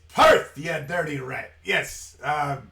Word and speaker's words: Perth: Perth pronunciation though yeah it's Perth it's not po but I ain't got